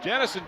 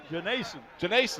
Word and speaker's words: Janason: Janison Jenkins with the big hit. Janason, excuse me. I've mispronounced it all year.